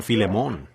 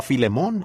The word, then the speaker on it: Filemón: Así que, Filemón, dijo alguien allá atrás, lo cual creo que es la pronunciación correcta.